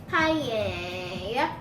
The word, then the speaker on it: paella: Paella. There you go. So I don't know how to spell that, but I'll look for it.